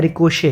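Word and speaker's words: ricochet: लेकिन मुझे लगता है कि इसका उच्चारण रिकोशेट है। ठीक है? इसे रिकोशेट की तरह पढ़ा जाता है।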